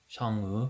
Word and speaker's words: Chang'e: We have a new Guardian mage Chang’e (pronounciation: SHANG-euh) who is the lunar goddess from Chinese mythology.